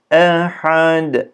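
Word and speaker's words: أحد: okuyacağız araya kaynatmaya hüvallahü ehad ehad e i u şeklinde ehad burada Bu kalkalenin ince harfleri ince tonlamayla yapacağız arkadaşlar yani ehad ehad şeklinde değil de eh ehad şeklinde Allahü Samed bakın burada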